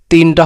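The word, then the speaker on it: ت: আর তা উচ্চারণ কায়দা হলো জিহ্বার আগা সামনে উপরে, জিহ্বার আগা সামনে উপরে দুই দাঁতের গোড়ার সঙ্গে লাগাইয়া তা তা উচ্চারণ হয়।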